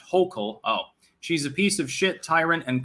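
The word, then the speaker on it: Hochul: out of the incumbent kathy hoscial uh pronounced hocal oh she's a piece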